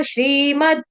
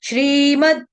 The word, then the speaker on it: श्रीमद्: तो सही उच्चारण क्या है? श्रीमद् भगवत गीता बट कभी-कभी गलती से डिवोटीज बोलते थे श्रीमद भगवत गीता ना द पूरा नहीं है द हलंत द आधा तो आधा ही उच्चारण करना है हमने अथ द्वादशोध्याय अब